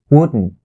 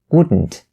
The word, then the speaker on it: wouldn't: Wouldn't. You don't say wouldn't. wouldn't. Okay? It's gonna be wouldn't. And if you can stop the T sound at the end of this word, then for the next